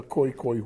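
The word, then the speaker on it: Khoekhoe: yes in afrikaans yeah so it's almost like a g sound okay and then you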